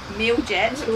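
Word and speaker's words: Mljet: Milliet. Yeah. Milliet. Or, as the Aussies say, Miljet. We call it Miljet.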